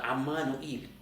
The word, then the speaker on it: Emmanuel: So they do not consider the Aramaic meaning, like Emmanuel, which is pronounced as Ammanuel.